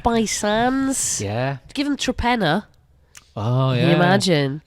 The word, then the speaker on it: Torpenhow: Give them Trepenna. Oh, yeah. Can you imagine? So that's spelt Trepenor, is it? It's spelt like Torpenhow. Torpenhow, that's it, yeah. But that is Trepenna, yeah.